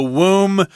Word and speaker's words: womb: He can perform a womb Transplant. The B is silent there.